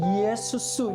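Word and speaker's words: Ἰησοῦς: 이것을 헬라식 이름으로 바꾸면 이에수스 이렇게 발음을 하는데 바로 예수가 되는 것입니다.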